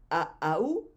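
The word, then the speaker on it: Ahau: Y Aau es el título de todos los jefes, que se escribe A-H-A-U, A-A-U.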